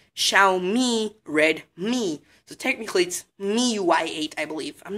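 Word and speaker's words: MIUI: of our shmellow and runs Xiaomi me you I ate a lot of people have to actually let me spell it out for you it's M I you I ok no space in the middle fully like you know joined together a lot of people actually call it my UI but it's you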